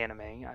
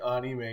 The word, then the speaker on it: anime: wrong no but I got on you for saying onime because I'm like oh that sounds funny that's not how you say it and I'm like oh